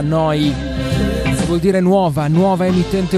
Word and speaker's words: Neu: Si scrive Neu, si pronuncia Noi, vuol dire nuova, nuova emittente urbana, live da Bologna, 7 giorni su 7.